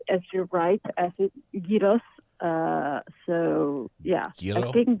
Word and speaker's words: gyros: We pronounce as you write, as it gyros. So yeah, Gyro? I think Greeks are also gyros. Do you roll the R there? Gyros. Gross. Yeah. Like that. You say it's gross. Yeah. Gyros.